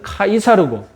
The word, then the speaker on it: 카이사르: 영어식 발음도 우리에게 익숙하죠 영어식 발음은 c죠 영어식 발음은 c조고 공식적인 표준어는 카이사르고 그리고 우리 성경에서는 가이사라고 번역이 됩니다 아시다시피 율리우스